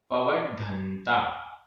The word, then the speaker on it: पवड्ढन्ता: अंडेसु, अंडेसु, पवड्ढन्ता, पवड्ढन्ता, आधा ड, ढ और बिंदी, पवड्ढन्ता, पवड्ढन्ता, गब्भत्था, गब्भत्था,